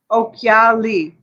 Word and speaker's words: Occhiali: That's how you pronounce that word, you guys. Occhiali.